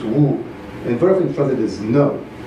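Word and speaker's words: 無: And the answer is in Japanese it's mu, in Chinese it's wu.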